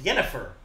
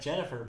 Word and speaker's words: Yennefer: It's like Jennifer, but with a Y.